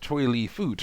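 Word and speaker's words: Choy Li Fut: I was like, actually, it's pronounced Choi Lee Foot.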